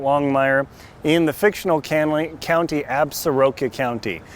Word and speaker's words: Absaroka: in the fictional County absaroka County some people in Wyoming pronounce it absorca so however you want to do that is good for you you but this weekend